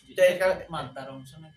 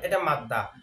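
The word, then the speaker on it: مادة: হুকুমান ঠিক আছে মাদার এটা মাদা না মাদ্দা মাদ্দা হল মুন্নাসে যদি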